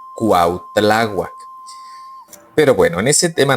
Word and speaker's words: Cuitláhuac: Por eso dicen que la pronunciación no es Cuitláhuac, que es Cuautláhuac.